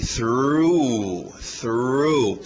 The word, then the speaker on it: through: TH de sapo, aquele R forte, through.